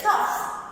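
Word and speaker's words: cough: It comes at the end of the word. We pronounce it as F, cuff.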